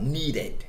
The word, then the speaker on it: needed: Na palavra needed, o ED é pronunciado na extensão total, needed. Ele forma uma sílaba adicional.